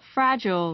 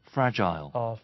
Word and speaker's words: fragile: fragile, 이렇게 돼요. fragile, fragile에서 그냥 짧게 I로 gel 강하게 하지 말고 gel처럼 fragile이라고 하시면 되는데 이런 거를 영국 친구들은 fragile, 이렇게 해요. fragile, fragile라고 발음합니다.